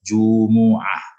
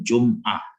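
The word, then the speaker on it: جمعة: Tapi mungkin karena di lidah itu agak berat dhammah itu, maka dibacanya sukun Jum'ah. Tapi aslinya dia ya kalau baca Quran itu mimnya dhammah.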